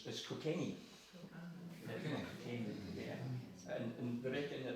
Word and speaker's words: Cockenzie: The local pronunciation is Cockenzie.